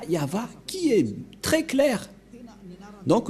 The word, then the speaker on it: Yahvah: suite c'est cette partie et ça se dit yava voilà donc l'écriture a attendez on a fait